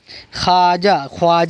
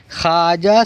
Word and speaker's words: خواجہ: خواب۔ یہاں پر واو لکھی جائے گی لیکن پڑھی نہیں جائے گی۔ خواجہ غلط ہے، خواجہ صحیح ہے۔ خواجہ، خوراک، خوشی نہیں پڑھ رہے ہم، خوراک نہیں پڑھ رہے، بلکہ ہم کیا پڑھ رہے؟